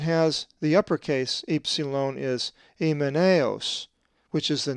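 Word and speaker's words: Ὑμέναιος: The accent is over the iota in the diphthong alpha iota. We will be coming to the diphthongs shortly. So the pronunciation of this Greek word is emeneos.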